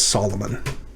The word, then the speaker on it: Solomon: this one is and you just will not know this one unless you know that shalomo comes through in our english translations as solomon moshe you've already learned